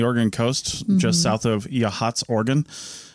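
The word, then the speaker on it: Yachats: coast just south of yhats Oregon spelled yit if you're trying to find it on a map it does not look like it should be pronounced that way for sure right uh we're going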